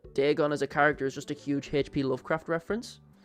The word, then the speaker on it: Dagon: The one thing that annoys me most about Dagon is how it's usually Americans pronounce his name. And they always say Dagon. Because that's how they say it in the dub. But, like, Dagon as a character is just a huge HP Lovecraft reference.